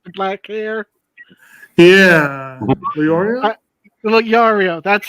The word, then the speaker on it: Leorio: My character, alright, from Hunter X Hunter, Leonaro, the doctor dude from Hunter X Hunter with the sunglasses, the suit, the black hair. Yeah. Leorio? Leorio, that's how you say his name.